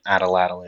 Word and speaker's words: atlatl: If you would like to learn more, an Ataladdle is an Ataladdle. An Ataladdle? You might have to turn on subtitles to learn how to spell it. But it's the spelling is Atlatl, an Ataladdle.